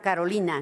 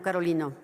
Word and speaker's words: Carolina: Sé que le costamos trabajo a las mujeres, pero me llamo Carolina, no Carolino.